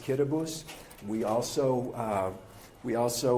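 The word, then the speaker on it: Kiribati: It's spelled Kiraabati, but it's pronounced Kitabus.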